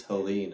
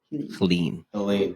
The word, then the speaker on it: Helene: How do you say that? Helene? It's not Helen, right? Because there's an E at the end. I thought it was Helen, but it's Helene, I think. I don't know.